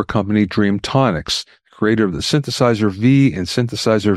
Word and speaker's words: Synthesizer V: Do you pronounce it Synthesizer 5 or Synthesizer V? I would pronounce it a V, although it actually means 5.